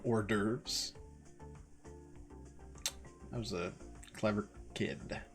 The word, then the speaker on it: hors d'oeuvres: I definitely always used to pronounce that horse divorce instead of hors d'oeuvres.